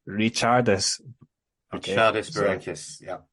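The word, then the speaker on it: Ričardas: So I've been reliably informed that I was saying Barrancas' first name wrong. It's not Ricardus, it's Richardus.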